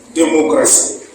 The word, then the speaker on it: démocratie: Il y a le mot démocratie. Démocratie, on a dit SI ou bien T. Mais on prononce si.